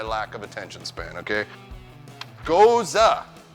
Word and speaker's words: gose: don't mean Cobra chicken I mean Goose so goza news regardless of which way it's spelled so we have on this side we